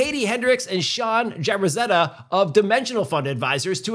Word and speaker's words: Jaberzadeh: and Sean from DFA well Katie Hendricks Sean jabrazetta did I pronounce it correctly that was good I did